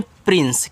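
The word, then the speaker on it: prince: तो इसको पढ़ते हैं प्रिंस।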